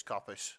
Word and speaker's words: coppice: called blood and straw by hope cop ice coppice coppice i don't know c-o-p-p-v-i do you want us yeah cops it's coppice oh i'm looking at it